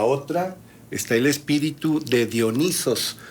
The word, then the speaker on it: Dionisos: Los espíritus dominados por el espíritu, los seres humanos dominados por el espíritu de Dionisos, lo pronuncio como se escribe originalmente, son gente indómita, rebelde, inconforme, que se atreve a desafiar, se atreve a nadar contracorriente.